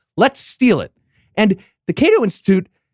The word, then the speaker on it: Cato: would like you to roast the Cat-O Institute. I think it's Cato. Yeah, I mean, use the French pronunciation if you want.